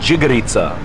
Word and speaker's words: džigerica: I've got over here a piece of liver, or džigerica. Kako se kaže? Džigerica. Yeah, good, I said it right.